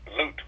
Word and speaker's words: Lute: We have a question from with Black College Sports Page. Please proceed. That's Lute. Lute, L-O-O-2, I gave you, so you pronounce it Lute.